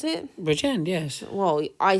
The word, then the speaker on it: Bridgend: Is that how the correct way to pronounce it? Bridgend, yes.